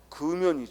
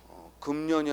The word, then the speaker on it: 금연: 일하고 있는 다이 말이야 또 금연이 줘 금년이 아니라 뭐요 금연 그리고 함유 줘 합류가